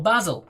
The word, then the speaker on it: basil: alex well it is wonderful basil or basil if you're saying it correctly it's not sybil that's for sure no i can't see